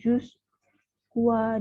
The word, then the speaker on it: jusqu'à: Ya, nggak ada U-nya, nggak ada bunyi U-nya, nggak bunyi ya, nggak ada bunyi U.